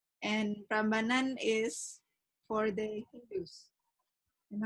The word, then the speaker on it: Prambanan: Oh, Prambanan. Oh, okay. I think I mispronounced it.